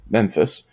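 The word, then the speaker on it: MEPIS: antics OS distribution and Memphis which is actually pronounced Memphis it was a typo and I guess they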